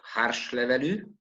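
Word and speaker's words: Hárslevelű: varieties planted in tokai the second is the harsh level pronounced in hungarian it's an aromatic variety or semi-aromatic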